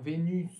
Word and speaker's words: Vénus: Aqui, excepcionalmente, gente, a gente vai pronunciar o S. E vai ficar, então, Vénus.